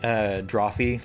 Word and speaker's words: Drawfee: Droff, yeah, it's spelled Drawfee, like coffee.